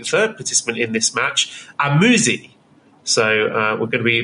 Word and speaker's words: AZM: I know exactly how to pronounce it. So also be the third participant in this match, Amuzi.